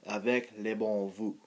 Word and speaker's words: Avec les bons Voeux: And I guess I don't know why they use French, but it's pronounced Avec les bons Voeux, and that means with good wishes or with good greetings in French.